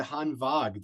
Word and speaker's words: Hanwag: say dude I I love that you said Han vog that's that's the that's the proper pronunciation of the brand so you know kudos